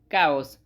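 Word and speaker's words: chaos: Next है सी एच ए ओ एस जिसका मतलब होता है कओस। कॉस अब इसमें एच साइलेंट है। एच साइलेंट होने की वजह से इसको प्रोनाउंस करेंगे हम काओस। काऊस बोलेंगे।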